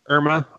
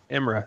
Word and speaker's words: Imra: Is it Irma? Yes. Imra.